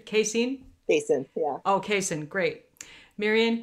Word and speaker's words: Kasin: pronunciation Kasin? Kasin, yeah.